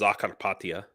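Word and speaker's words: Закарпаття: I lived transcarpathia or in in Ukrainian it's pronounced zakara zakar means trans carpa means Carpathia so trans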